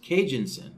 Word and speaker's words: Kijun-Sen: see here David was letting me know it's pronounced Cajun sin okay Cajun sin so that's pronounced with an